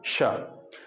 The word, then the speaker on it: श: और ये जो है इसमें आपकी जीभ सबसे बाहर यानी दांत को छूने का प्रयास कर रही है लेकिन छू नहीं पा रही। स, तो ये सबसे बाहर स, फिर उसके बाद थोड़ा सा पीछे श, फिर और पीछे श।